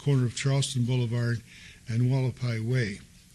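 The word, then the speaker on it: Hualapai: of Charleston Boulevard and Wallapai Way. Some people say Havapai, the Indians call it Wallapai, Native Americans, so that's why I pronounce it Havapai.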